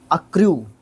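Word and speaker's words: accrue: उसके बाद अर्क्यू, सॉरी अर्क्यू नहीं, जब भी मैं इस वर्ड को पढ़ता हूँ अर्क्यू दिमाग में आता है इसका प्रोनाउंसिएशन। अक्र्यू, अक्र्यू, आर को मैं सी से पहले लेके चला जाता हूँ मेरी प्रोनाउंसिएशन में, ये गलती है।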